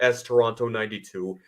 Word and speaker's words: Taranto: But anyway, my Twitter handle is at storonto92. That's two A's and an O in Toronto. So not spelled like the city in Canada, but pronounced the same as it.